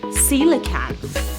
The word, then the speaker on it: coelacanth: Monkfish, caiman, coelacanth. Yeah, that's how you pronounce it, guys.